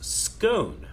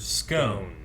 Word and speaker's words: scone: on how to pronounce scone. I pronounce it like cone and not like gone. Yeah. So scone or scone? I've always heard scone.